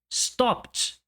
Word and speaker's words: stopped: P é uma consoante sem som. Stopped, stopped. E mais uma vez eu insisto, não existe o som de E.